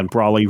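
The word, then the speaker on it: Braly: Matt brayy BR Bry how you say it broy yeah broy R Rhymes Like trolley yeah and he's you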